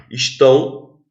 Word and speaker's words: estão: Estão, a sílaba tônica é tão.